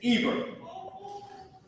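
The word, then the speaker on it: עֵבֶר: In Hebrew, first let me put the pronunciation. This word Ibar is Eber.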